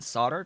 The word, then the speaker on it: solder: No, we don't pronounce the L in solder, just like we don't really pronounce the L in kernel either.